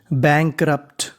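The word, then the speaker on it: bankrupt: आर यू पी टी, यहाँ पे यू हमारा साइलेंट है, तो इतनी मीनिंग बनी बैंकरप्ट, बैंकरप्ट।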